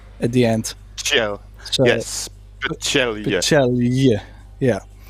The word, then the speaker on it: Pecelj: So it is Alexa Pecelj. Pecelj. Pecelj. Yeah, or at least that's what they in general have told me.